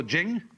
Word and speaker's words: Jing: pronounced De, and Jing, there is no apostrophe after the CH, so if there were, it would be pronounced Ching, but it's Jing, like a J. And so Jing, in Chinese, means a classical book or scripture.